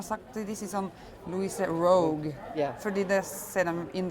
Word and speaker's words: Roug: Yeah, no, I mean, Roug is the way to pronounce it.